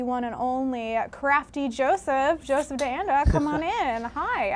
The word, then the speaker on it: DeAnda: All right, next up, I have the one and only Crafty Joseph DeAnda.